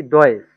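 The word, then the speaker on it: Deutsch: তাহলে হচ্ছে এখানে উচ্চারণ হচ্ছে কি? ডয়েস, হ্যাঁ।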